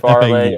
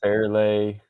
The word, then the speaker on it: Fairleigh: You say Against Farley, FAU. I say Fairlay.